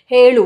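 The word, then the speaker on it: ಹೇಳು: So be very cautious when you pronounce this Helu. Both are different. Helu. What you should use? Your tongue tip has to touch upper palate.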